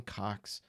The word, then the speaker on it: Coxe: Today, my main feature is on a New York crime fiction and pulp author named George Harmon Coxe. That's spelled C-O-X-E.